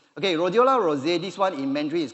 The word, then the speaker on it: Rhodiola rosea: The next one is called, pardon me, I also may not be correct on pronouncing this, called Rhodiola rosea. Okay, Rhodiola rosea, this one in Mandarin is called Hong Jing Tian.